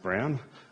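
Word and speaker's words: Bruijn: you the story but that's pronounced brown where I was in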